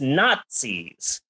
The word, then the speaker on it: Nazis: You pronounce it with a T. People don't say Nazis. Right. It's Nazis.